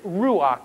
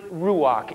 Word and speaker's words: ruach: The Old Testament Hebrew word for spirit is ruach.